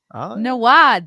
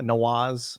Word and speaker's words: Nawaz: i asked him either i've been saying nawad this whole time oh yeah yeah nawaz i think is magic